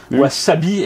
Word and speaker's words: wasabi: Sauf que le S en japonais se prononce S.